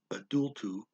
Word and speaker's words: adulto: an adult ser adulto or excuse me sarah adultu i'm trying to match this one particular accent